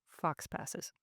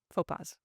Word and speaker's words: faux pas: So I acknowledge it, I apologize for it, and I will try to avoid future Fox passes. Faux pas.